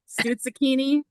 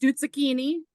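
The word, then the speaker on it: stuzzichini: into dinner time um no no sakini this is pronounced stut sakini so you all know now how to how to pronounce it the art of the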